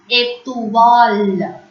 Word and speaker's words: étoile: O-I in French is pronounced as wa. So this word is étoile.